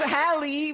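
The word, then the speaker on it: Halle: Pronunciation a little rough, but you got it. You in there. Let's go! You know what I'm saying? I mean, her name is Hallie, bro.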